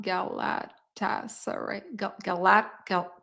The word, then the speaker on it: Galatasaray: I don't know how to pronounce that. Hold on. Galatasaray.